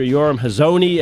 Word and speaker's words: Yoram Hazony: Yoram Hazony, and as he explains to me, that's my bad American-ish pronunciation of his last name, not the Hebrew one.